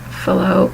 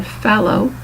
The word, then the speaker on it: Fallot: here it's pronounced either Fallot or Fallow, depending on how your doctor or your hospital pronounces it. Main thing is that T, that ending T, is not pronounced.